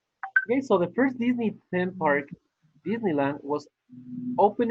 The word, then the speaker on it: Disney: Disney is the pronunciation. It's not Disney. It's Disney. Disney. Disneyland. Okay, Disney. Disney, yeah. Like Sydney, Australia. Sydney, no Sydney. Sydney, Spanish. Disney, Spanish. In English, you say Disney, Sydney.